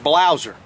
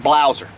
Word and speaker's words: Blaser: it it's called a blouser it's actually it's actually spelled b-l-a-s-e-r but it's pronounced blouser they're german-made the cool